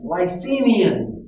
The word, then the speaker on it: Licinian: 367, Licinian is how that's pronounced.